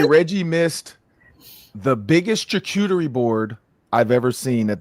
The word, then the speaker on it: charcuterie: It's charcuterie. Charcuterie? Yes. Charcuterie? There's a sneaky R.